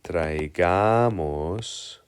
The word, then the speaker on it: traigamos: is going to be traigamos. Before we do anything else, let's figure out. Traigamos. Seems like the emphasis is on the second to last syllable because it ends with an S.